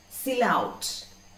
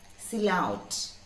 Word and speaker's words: silhouette: Once more, silhouette. Once more, please. When we see the spelling, we may read it in some other way, but the pronunciation is silhouette. Once more, please. Silhouette. Okay, wouldn't be silhouette.